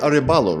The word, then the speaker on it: Arebalo: Arebalo, right?